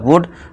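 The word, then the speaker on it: would: ठीक है दोस्तों, सुड, सुड का मतलब करना चाहिए, कुड, कुड का मतलब सका, इसी तरह वुड यानी कि होगा।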